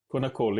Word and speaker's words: Konnakol: wrong, but you were talking about, is it Konnakol? Did I say that right? Konnakol, yes, yeah.